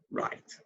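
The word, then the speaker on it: write: I'm pronounced like that so the W is silent and of course up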